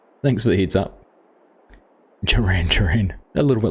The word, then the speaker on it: Gerang: It's pronounced Gerang, as if it was spelled with J's and not G's. Ah, cool. Thanks for the heads up. Gerang.